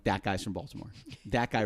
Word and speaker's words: Baltimore: Now we pronounce it Baltimore, but up there it's Balmer. Balmer. Balmer.